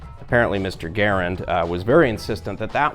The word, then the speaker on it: Garand: language a little bit you have a comparable sounding word gerund which is spelled with und clearly uh which is